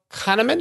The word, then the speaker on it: Kahneman: them is Thinking Fast and Slow by Daniel Kahneman is that correct pronunciation that's correct and so what do you